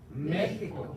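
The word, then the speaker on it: México: 메히코.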